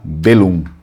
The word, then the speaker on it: Belluno: No Vêneto original eles não falam assim, eles não falam Belluno, então eles vão falar Bellum.